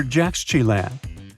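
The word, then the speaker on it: Yaxchilan: And Mayan cities are hard to pronounce too. Consider Jaxchilan.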